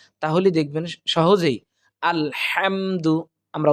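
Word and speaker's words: الحمد: করব অর্থাৎ কিভাবে হবে আলহামদু আলহামদু অর্থাৎ হা হলকের মধ্য থেকে দুইটি হরফ উচ্চারিত হয় আইন হা এই হা টা আমরা হলকের মধ্য থেকে কণ্ঠনালীর মাঝখান থেকে আমরা উচ্চারণ করব তাহলে দেখবেন সহজেই আলহামদু আমরা উচ্চারণ করতে পারবো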